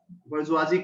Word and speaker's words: bourgeoisie: Okay, if you have heard this bourgeoisie class, it is smelled, it is pronounced like this.